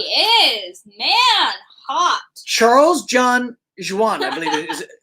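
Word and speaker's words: Joughin: Charles John Juan, I believe it is. Joan is how you pronounce his name.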